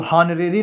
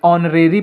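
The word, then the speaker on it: honorary: ये हॉनरेरी लिखा है तो हॉनरेरी नहीं पढ़ेंगे इसे ऑरेरी पढ़ेंगे इसमें चच साइलेंट है तो ओ से शुरू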